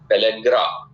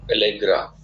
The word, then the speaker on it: पेलेग्रा: तो इसकी कमी से जो लोग लिस्ट में लिखना चाहते हैं, पेलेग्रा, PELLAGRA, पेलेग्रा, जो आगरा की स्पेलिंग है उसमें PELL जोड़ देते हैं।